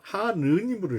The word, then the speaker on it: 하느님: 그런데 평안도에 있는 분들은 그것을 하나님으로 읽었어요. 하나님. 더 발음하기가 쉽죠, 사실은. 서울에 있는 사람들은 하느님으로 읽었습니다.